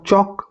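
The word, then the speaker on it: chalk: अच्छा एग्जांपल है इसका चॉक चक एल साउंड है एल अ साइलेंट है और च का साउंड इसमें आ रहा है चिप्स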